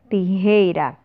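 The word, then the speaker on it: tijeras: Tesoura em espanhol nós chamamos tijeira. Tijeira. Lembrem-se sempre, o E sempre com som fechado.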